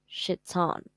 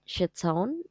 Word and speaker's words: chiton: resembles the ancient Greek shitton I don't know how to pronounce that chiton uh yeah a Garin